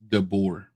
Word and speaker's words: DeBoer: DeBoer, DeBoer.